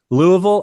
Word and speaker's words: Louisville: not from the south any city that ends in VI ll e that's pronounced bull you could be in nashville Louisville that's that's how it's pronounced if you thought I